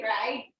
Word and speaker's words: Fried: Should you say Freud's freeze? But it's spelled as IE, right? yeah. I just feel like it's good To say fried, fried.